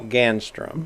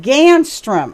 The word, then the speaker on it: Ganstrom: In our studio today is Ganstrom. Did I pronounce that right? No. No, I slaughtered it? Give me the right pronunciation. Ganstrom. Ganstrom.